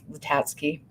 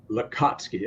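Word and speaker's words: Lacatski: Bigelow, and then James Latatsky wrote. Did they both, was it Latatsky? Lakatsky, L-A-C-A-T. I'm so good with pronouncing names.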